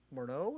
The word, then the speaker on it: Morneau: You're right, Louis Morneau is how you say his last name.